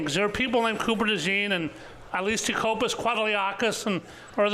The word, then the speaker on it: Cooper DeJean: He did not play particularly well, and I think as Cooper DeJean gets more comfortable and learns the slot. You just gave it the French pronunciation, but it actually is pronounced as spelled Cooper DeJean.